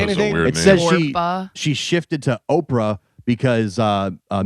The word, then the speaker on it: Oprah: was growing up so people would see it and say Oprah. Oprah. She was might as well go with it instead of Orpa.